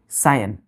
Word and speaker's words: scion: सायन। पढ़ते प्रोनाउंसिएशन क्या करते हैं, सायन लिखते हैं, SCION।